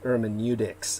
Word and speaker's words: hermeneutics: what derek is talking about i believe it's pronounced hermeneutics and it's spelled h-e-r-m-e-u-t-i-c-s uh just so you